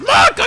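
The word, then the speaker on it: Monaca: It's pronounced Monica, you bitch!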